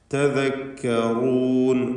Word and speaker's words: تذكرون: തദക്കറൂൻ room എന്ന റായിന് തഫ്ഖീം കൊടുക്കണം. പലപ്പോഴും നമ്മുടെ ആളുകൾക്ക് റായിൻ്റെ ഉച്ചാരണത്തിൽ അബദ്ധം വരും. മലയാളത്തിലെ റാ പോലെ പറയും. അത് വരരുത്. തദക്കറൂൻ എന്ന് തടിപ്പിച്ചുകൊണ്ട് റാ ഉച്ചരിക്കുക. ബാറക്കല്ലാഹു ഫീക്കും.